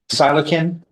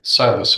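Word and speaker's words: psilocin: Silocin E S I L O C I would say that's how I pronounce it. C is softer judge. All right. Silos.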